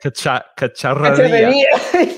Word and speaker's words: cacharrería: to say, which is cacharrería. Cacharrería, which with the double R is difficult for English speaker to pronounce.